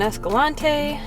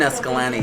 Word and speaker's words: Escalante: Just got gas in Escalante.